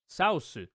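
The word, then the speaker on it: サウス: And it ends up being saosu for south. That's how you pronounce it in Japanese, and that's how you write it in katakana.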